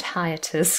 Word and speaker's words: hiatus: call this hiatus and actually the word hiatus contains an i a diphthong and then a so you can maybe